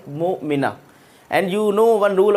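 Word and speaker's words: مؤمنة: to stop there, then the pronunciation of this ta'i marbuta is similar to ha. We call this mu'mina. We will not call mu'minatun if I want to stop here mu'mina.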